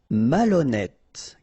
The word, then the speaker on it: malhonnête: Décider, malhonnête. Okay, remember, H doesn't exist, so malhonnête. Don't insist on the final E. Malhonnête. And here you get E accent circonflexe, so you pronounce it like E. Malhonnête.